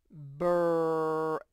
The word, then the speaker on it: brave: Brave, brave. E is silent, but you have to put it.